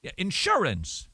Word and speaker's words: insurance: a what insurance company insurance did here where the accent was on the second syllable that would not be correct that would nevertheless if